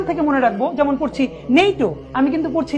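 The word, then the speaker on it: NATO: সঠিক আর এখান থেকে মনে রাখবো যেমন পড়ছি নেইট আমি কিন্তু পড়ছি না এন এ ই ও এরকম কিন্তু পড়ছি না আমি একটি শব্দের মত পড়ছি নেইটো পড়ছি ইউনিসেফ ইউনেসকো পড়ছি স্যার আমি কিন্তু পড়ছি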